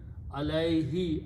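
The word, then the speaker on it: عليه: Alay pronounced alay, and this is also pronounced as a he for easy tajweed. Alayhi, upon it, upon accomplishing this task.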